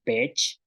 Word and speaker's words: peech: Entonces tenemos palabras como pech, que es garrapata, shoch. Entonces escuchen el sonido que hace pech, shoch, pech, shoch. Entonces en el caso de pech, la cha, pech, tenemos la salida del aire que sale